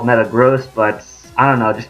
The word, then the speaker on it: Metagross: the way I realized I mispronounced the name it's supposed to be called Metagross but I don't know